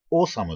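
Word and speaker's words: Awesome: これ AWE サムって書いて、オーサムって読みますんでね。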